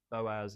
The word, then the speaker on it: Boaz: Bose? Could you say boat? No, it's Boaz.